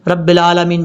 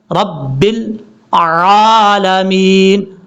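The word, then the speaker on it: رب العالمين: نظر آ رہا ہوگا یہ عین ہے لام کے بعد، لیکن لوگ کیا غلطی کرتے ہیں؟ رب العالمین پڑھ جاتے ہیں، رب العالمین۔ کتنی بڑی مسٹیک ہوتی ہے، ایسا نہیں کرنا۔ پڑھنے کا طریقہ کیا ہے؟ رب العالمین، عین کو کلیئر کر کے عالمین۔ اب اس کے بعد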